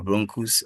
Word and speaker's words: bronchus: The bronchus and the bronchiole. So with the bronchus, this is how it's been pronounced. So you use the sound. We have the bron and cus.